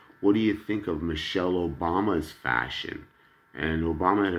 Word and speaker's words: Michele: Isn't that funny, I go by Michael, and yet my name, my first name is spelled M-I-C-H-E-L-E, which you would pronounce Michelle, but it's an Italian name, Michele.